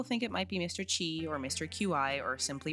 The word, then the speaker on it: Qi: Chi or Mr. Qi or simply Mr. Q. But concerned Ape recently confirmed in an interview that the correct pronunciation is in fact Mr. Qui.